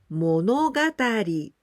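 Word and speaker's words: 物語: For example, monogatari.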